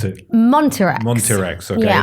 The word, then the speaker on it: Montirex: Montirex. Okay, Yeah. it is as it looks.